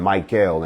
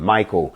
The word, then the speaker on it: Michael: a source of power so when you hear uh surreal and raphael and raghuel and mike gail and sir raphael and gabrielle see you've been pronouncing their names wrong you've been calling them raphael and michael and gabriel no the el is part of their name it's a title those